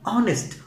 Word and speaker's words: honest: Right, in the second word honest man but not honest, honest అని అనకూడదు, honest, the letter h is silent.